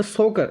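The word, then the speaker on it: Tso Kar: सोकर wetland कॉम्प्लेक्टेड complex टीएस 100 या तो 100 भी कह सकते हो पर टी साइलेंट उ थे तो सोकर सोकर इसन वेटलैंड कंपलेक्स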